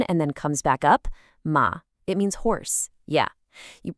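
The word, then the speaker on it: 妈: The syllable is ma, simple enough, but if you say it with a high, flat tone, ma, it means mother. If you say it with a tone that dips down and then comes back up, ma, it means horse.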